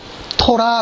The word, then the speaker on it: 토라: 법은 우리가 주로 많이 듣는 히브리어 단어가 있습니다 토라 라고 좋더라 그래서 1 법은 토 랍니다 불법을